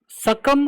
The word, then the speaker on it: succumb: सकम कहा जाता है। ये बी साइलेंट ही है। सकम लोग नहीं कहते।